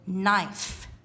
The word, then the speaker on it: knife: with in the word knife i have a knife in my hand there's a k in front of it but we don't say